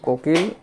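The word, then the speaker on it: cuckoo: বাজ পাখি তারপর হচছে কোকিল কুকু এর উচ্চারণটা বললাম এক্ষেত্রে যে বিষয়টি আছে সেটা হচ্ছে সি এর পরে যদি কে থাকে তাহলে সিটা সাইলেন্ট থাকে এটা একটু খেয়াল রাখবে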